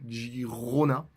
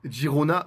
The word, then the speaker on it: Girona: De Girona ou Gironne. Je vais essayer de faire attention à la prononciation parce que c'est un peu compliqué. Donc voilà, moi je vais essayer de dire Gironne au maximum.